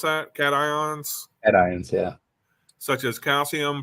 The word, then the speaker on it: cations: High salt concentrations, particularly of divalent cations, or is that how you pronounce that? Cations?